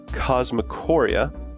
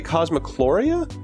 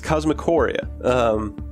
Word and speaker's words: Cosmicoria: A lot of people say Cosmicloria because that sort of rolls off the tongue better, but there's not an L in that game's name. It's Cosmicoria. Anyway, it's cute.